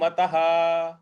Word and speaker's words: मतः: हुआ है मतः मतः त के बाद जो विसर्ग है इस विसर्ग को भी हम पूरा पढ़ेंगे ह के उच्चारण के साथ क्योंकि इसके आगे कोई भी अक्षर या कोई भी शब्द नहीं है।